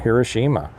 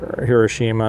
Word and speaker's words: Hiroshima: Go back and look and see, how Nagasaki and Hiroshima bounced back from it. Compared, interesting thing that I saw some time back is a comparison of either Hiroshima.